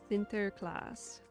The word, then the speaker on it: Sinterklaas: Sinterklaas. Is that right? Or close? Sinterklaas? Close enough. Okay. Sinterklaas. Okay. Yeah, I definitely went very German the first time.